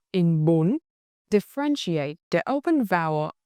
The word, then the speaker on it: Bún: Bun. Bun. Bun. For our second syllable, ma the initial consonant m same as before.